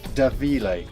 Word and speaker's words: Da Mhile: a da mah IL e but it's actually pronounced da Vila we're gonna look inside and have a word